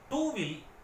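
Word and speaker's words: two: துவியில் உள்ள இத் என்பதே டூவில் இட் ஆகிவிட்டது உச்சரிப்பில் டூ என்று சொன்னாலும் ஸ்பெல்லிங்கில் டிக்கு அப்புறம் டபுள்யூ வருகிறது டபுள்யூ க்கு வா சப்தமே உண்டு துவியில் உள்ள வா தான்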